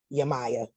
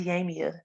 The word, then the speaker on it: Yamia: Yama, Yamaya, girl, Ms. I don't know how to pronounce it right, but Ms. Hey, how you doing? I'm great. It's Yamia, by the way.